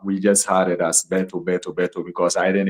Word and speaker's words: Berthou: Um actually um okay back home in Ghana we used to say BTO and that's all like Roberto Carlos Bberto Betto and that's all.